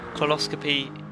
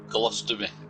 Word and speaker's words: colostomy: And, it looks like Ray Coxler has donated £50 to Coloscopy UK. I've said it wrong again, haven't I? Colostomy. That's it, colostomy, sorry.